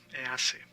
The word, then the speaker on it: hace: Now, here we have se hace. It's not hace. The H is mute. You say hace, not hace.